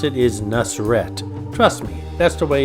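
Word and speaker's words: Nusr-Et: restaurant names in Las Vegas the way you pronounce it is nusret trust me that's the way it's pronounced nusr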